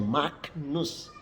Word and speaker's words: Magnus: Kemudian yang kedua, di depan N, G diucapkan seperti ny, ny, ny. Seperti ketika kita mengucap kata nyata, nyata. Contoh, Agnus. Kalau kita menyanyi anak dombala, Agnus Dei, bukan Agnus Dei, tapi Agnus, Agnus Dei, Agnus. Magnus yang tulisannya Magnus, Magnus dibaca Magnus. Kemudian tulisannya Agnos Cere dibaca Agnos Cere, Agnos Cere.